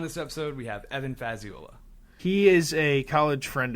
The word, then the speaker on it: Fazziola: Oh, yeah, just like, it's Fazziola, and I would get, Fazzita, or, Fazzola. Fazzola. Yeah.